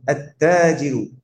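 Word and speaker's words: التاجر: তা দিয়ে যদি কোনো শব্দ শুরু হয়, সেটা যদি আলিফ লাম দিয়ে বলতে চাই, সেখানে কি হবে না? লাম উচ্চারণ হবে না। আত্তাজিরু, মা মানা আত্তাজিরু?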